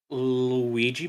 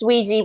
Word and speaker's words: Ouija: oh one of those uh luigi boards it's pronounced ouija boards and but it's it's